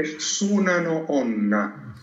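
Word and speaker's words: 砂の女: Le chiedo per piacere, me lo pronuncia in giapponese il titolo originale della Donna di Sabbia? Sì, è Tsunano Onna.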